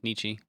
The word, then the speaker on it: Nietzsche: That was, I don't know how to pronounce this philosopher's name. Nietzsche? Oh, yeah, Nietzsche.